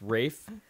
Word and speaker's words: Ralph: look up Ray fiends spelled like Ralph but it's pronounced wraith spelled f-i-e-n-n-e-s he's an